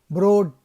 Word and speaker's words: Broad: As a boy, Broad changed the pronunciation of his last name to rhyme with road instead of rod to stop his schoolmate from teasing him.